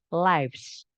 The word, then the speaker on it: lives: sin bukan predikat ya Ini bacanya bukan Liv tapi lives ini adalah bentuk jamak